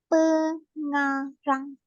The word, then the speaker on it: pengarang: Okay, how to pronounce this is first of all we pronounce per and The then nga. nga. This one is the second syllable and then rang. Pengarang.